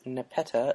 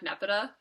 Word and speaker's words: Nepeta: Also, her first name is like Neopet. That's true. I've been pronouncing her name like Nepeta, but what works for you? Nepeta.